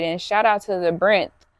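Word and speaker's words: Brynth: So I did and shout out to the Brenth. So, it's spelled like B R Y N T H. Um, the Brenth. It's like the labyrinth, but just the Brenth, the ending of the word labyrinth.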